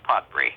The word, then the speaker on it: Podbrey: Yeah, your father, Maurice Podbury, is that how it's pronounced? Morris. It's actually Morris Podbrey, yeah.